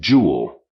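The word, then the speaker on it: Joule: by the the way probably pronounced his name jewel in any case I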